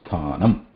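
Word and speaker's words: स्थानम्: Okay, sthanam. Though we think that it is a consonant, it is not a pure consonant. Sthanam. We are adding like a 25% of sound there at the end of sthanam.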